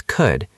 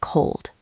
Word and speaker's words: could: The pronunciation is could. It rhymes with good and should. Right. A common mistake is pronouncing the L sound, but there is no L sound. It's could, not cold.